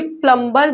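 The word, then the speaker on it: plumber: देखिए प्लंबर जो होता है वो इंडिया की प्रोनंसिएशन है। अगर प्लंबर में जबकि बी साइलेंट होता है ये ब्रिटिश की प्रोनंसिएशन है। आप दोनों यूज़ करें दोनों ही सही है।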